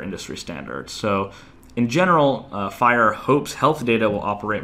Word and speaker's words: FHIR: slowly rolling out called at hir pronounce fire I won't get into